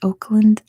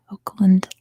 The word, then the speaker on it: Oakland: Do we pronounce Oakland the same as Auckland? There, you can hear it. It's slightly different. Oakland, Auckland. Oakland, Auckland. Slightly different. Oakland. Question number 13.